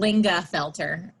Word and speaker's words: Lingafelter: It's just how it's spelled. Lingafelter. Lingafelter.